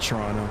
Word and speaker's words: Toronto: Toronto. Um, I pronounce it Toronto.